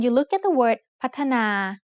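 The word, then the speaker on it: พัฒนา: When you look at the word พ ั ฒ น า you might see only 2 syllables, but it is actually said with 3 syllables.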